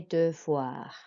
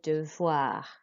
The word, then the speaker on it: devoirs: But for VOI, that makes a voix sound. So OI makes a wa sound in French. So listen and then you're going to repeat. Je fais mes devoirs.